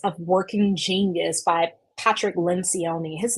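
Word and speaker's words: Lencioni: working genius by Patrick lenion his name his name is spelled wrong it's actually lyion lynon it's Italian so it's l n c i o n i the six types of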